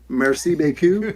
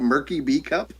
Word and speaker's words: merci beaucoup: And I think I just read out Murky B Cup over the announcements to the entire school.